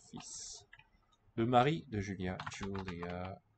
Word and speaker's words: fils: Worth noting that the L there is silent. Fils.